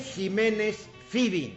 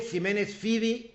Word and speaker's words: Ximénez-Fyvie: Jiménez Fibi. Les voy a decir cómo escribe. El Jiménez con X. Y el Fibi se escribe F-Y-V a la moderna, V-I-E. L. Jiménez Fibi ahí en el Twitter.